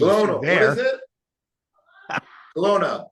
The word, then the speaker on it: Kelowna: Kelowna. It's Kelowna.